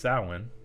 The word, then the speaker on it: Samhain: read through this thing sin a GIC word pronounced sin is a pagan religious Festival originating from an